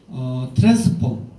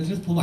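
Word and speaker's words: Transform: 트랜스폼. 누가 이게 트랜스포머라고 읽는데 트랜스포머 아닙니다. 트랜스폼입니다.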